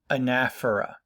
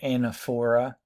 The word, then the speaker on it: anaphora: Okay, this technique is called anaphora or anaphora. Could pronounce it anaphora.